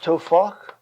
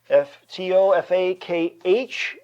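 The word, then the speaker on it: טֹפַח: It would be pronounced tofach, Tofakh, and this means a hand breadth.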